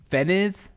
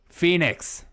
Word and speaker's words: Phoenix: Feniz? Is that how you say it? Feniz? I still get their emails. Phoenix. That's what it is.